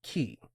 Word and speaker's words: cay: Pronounced key, not K, I said.